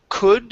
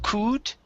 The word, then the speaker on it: could: uh let's go to the word could instead of coot okay drop the jaw just a little bit more to pronounce the uh he could see okay very good uh